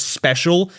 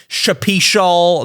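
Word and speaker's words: Shpeshal: I couldn't I didn't know that his name was Special. It's spelled S H P E S H A L. I pronounced it like Shapishal Nick.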